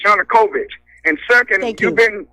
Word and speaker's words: Yanukovych: Lenny we're getting short your new convinced is not pronounced you nucleus is Yanukovych and ii think you've